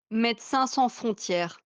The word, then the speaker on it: Médecins Sans Frontières: So, Elo, thank you very much for the actual French pronunciation of Médecins Sans Frontières. Médecins Sans Frontières.